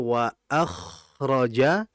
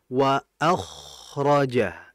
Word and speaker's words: وأخرجت: Kha itu hurufnya tebal. Tadi itu bacanya wa akhraja. Ngalirnya sudah benar, Masya Allah. Ngalirnya sudah betul, Masya Allah. Iya. Tinggal tebalnya saja. Bagaimana cara menebalkan hurufnya? Tinggal dinaikkan pangkal lidah. Ya, tadi kan bacanya wa akhraja, sehingga yang harus diperhatikan tinggal ditebalkan menjadi wa akhraja.